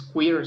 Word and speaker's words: queer: Y por último tenemos la Q, que es por queer, un término que es Q-U-E-R-R, es queer, se pronuncia así.